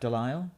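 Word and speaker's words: DeLisle: Welker is still Fred her Wikipedia says delile pronounced delile yeah I it's again just me assuming that's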